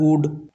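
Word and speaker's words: would: उसी प्रकार वुड वुड में भी एल का उच्चारण नहीं होता।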